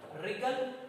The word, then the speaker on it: wriggle: Okay, third number column you see the pronunciation wrinkle, wriggle and right. ये तीनों का जो pronunciation है wrinkle, wriggle और right, here W, W and W, all 3 W's are silent here.